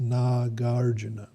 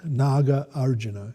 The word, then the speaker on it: Nagarjuna: So it's pronounced Nagarjuna. Of course, we have our own English or Aussie way of saying it. So it's really two words, Naga Arjuna.